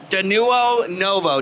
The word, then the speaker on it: Denuo Novo: that's a big one so i'm here with danuo novo did i pronounce that right that's correct beautiful and i'm